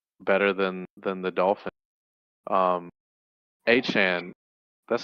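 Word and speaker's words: Achane: Um, Achan, that's how you pronounce his name, right?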